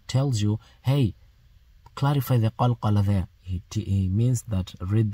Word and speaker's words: قلقلة: Okay, look, qaf, when qaf has a sukoon, you don't pronounce it like aq. No, you've got to hit it a little bit.